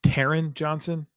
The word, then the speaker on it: Taryn Johnson: choose I have to arrest you for a pronunciation error that you made okay uh it's it's Taryn Johnson Taryn Johnson you can choose between corners and